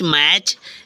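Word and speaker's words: match: ए टी सी एच मैच या देखो टी सी एच में टी साइलेंट हुआ कि नहीं हुआ हो गया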